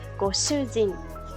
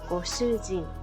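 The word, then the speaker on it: ご主人: Hay que tener cuidado con la palabra de shujin, porque si lo hacemos larga de nuevo, dándole énfasis a las largas pronunciaciones, si lo decimos largo, estamos diciendo prisionero, no esposo. Entonces, goshujin, corto, goshujin, eso sería el esposo.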